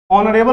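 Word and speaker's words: honourable: अब ऑनरेबल में ऑनरेबल कैसे बोलिएगा, ऑनरेबल। देखिए ऑनरेबल में जो पहला हमारा लेटर एच है उसके लिए प्रोनाउंसिएशन में तो आप ऑनरेबल ओ बोल रहे हैं।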